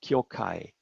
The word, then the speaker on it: kyogai: Now in this very specific context, there's also the word of kyogai. The characters for kyogai are pronounced kyokai in colloquial Japanese, and there the word means freedom.